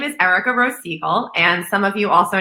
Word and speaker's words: Seigel: the country and we're here with Erica Rose Siegel did I say it correctly right yes your